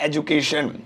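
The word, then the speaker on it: education: जो सही प्रोनाउंसिएशन है, चाहे वो अमेरिका में हो, चाहे वो यूके में हो, यानी कि ब्रिटेन में हो, वो है एजुकेशन। आप एजुकेशन ही बोलिए, यही करेक्ट है।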